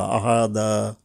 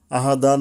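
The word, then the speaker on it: أَحَدًا: আহাদা, আহাদা, আহাদান না বলে আহাদা বলতে পারি আমরা, কারণ এখানে তখন আর 2টা জবরের ইফেক্টিভ হবে না।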